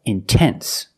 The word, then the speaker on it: intense: If you have a stress after the NT, if you have a stressed syllable after NT, then you have to pronounce the T. Example, intense. I put the stress after the NT. So, I have to pronounce a T. I cannot say intense.